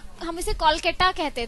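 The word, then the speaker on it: Kolkata: सही प्रोनाउंसिएशन अगर हम अगर देखा जाए तो कोलकाता ही बोलते हैं.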